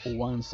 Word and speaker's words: once: Se escribe como 11 en español, pero se pronuncia como once.